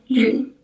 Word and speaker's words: lune: Huruf E terakhirnya nggak bisa, jadi cuma lune.